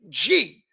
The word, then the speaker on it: Xi: They were supposed to name this virus the next letter of the Greek alphabet, which would have been XI, pronounced G.